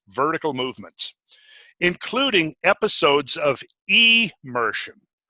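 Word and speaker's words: emersion: episodes of e Mershon now two words immersion immersion immersion to be immersed in the water but immersion means to come out of the water so the word is spelled e m ER SI o n not i am c immersion so he's saying there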